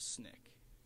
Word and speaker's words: SNCC: Student Nonviolent Coordinating Committee it's pronounced snick represented a radical no